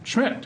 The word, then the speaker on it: Schmidt: Red Wing, Senator Schmidt. Have I got that right? You've got it right. Pronounce that correctly? I always tell folks you can say it however you want, just don't forget the M.